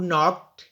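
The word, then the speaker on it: knock: डू यू नो हु नॉक एट the door no में के silent है नॉक में भी के साइलेंट है सना इज क्लाइमिंग द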